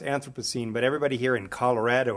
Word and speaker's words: Anthropocene: this word was pronounced anthropocene but everybody here in colorado of all places chooses to pronounce it anthropocene as if they've just gotten off the plane from london which some of you